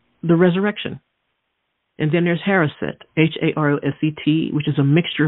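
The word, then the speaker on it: haroset: new life or the resurrection and then there's harrison h-a-r-o-s-e-t which is a mixture of apples dates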